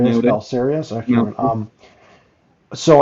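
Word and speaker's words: Belisarius: I don't know how you pronounce his name. Yeah, you pretty much Balsarius, nailed it. Balsarius.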